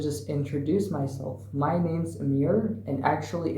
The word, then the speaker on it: Amir: introduce myself my name's Amir and actually it's pronounced Amir because in Kurdish Persian and Arabic it's pronounced Amir and actually my name